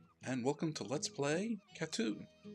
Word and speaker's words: Cateau: welcome to let's play KATU at least I'm assuming it's pronounced katsu I'm under the impression it's like a shot - except for cats tattoo is a 2018